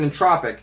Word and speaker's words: En*Tropic: album entropic and tropic I pronounced it the way you want to pronounce it I pronounce it in tropic this is the third